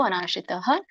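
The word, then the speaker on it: ಅನಾಶ್ರಿತಃ: ಭಗವಾನುವಾಚ ಭಗವಂತ ಹೇಳಿದರು ಅನಾಶ್ರಿತಹ ಇಲ್ಲಿ ಮತ್ತೆ ವಿಸರ್ಗ ಇದೆ ಆದಮೇಲೆ ಸೋ ಹಾಗಾಗಿ ಅಲ್ಪವಾಗಿ ನಾವು ಹ ಉಚ್ಚಾರಣೆ ಮಾಡಬೇಕು ಅನಾಶ್ರಿತಹ ಕರ್ಮಫಲಂ ಇದು ಫಲಂ ನಾಟ್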